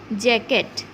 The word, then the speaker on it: jacket: Okay, so moving to next one, that is jacket. JACKET. So here this C letter will be silent.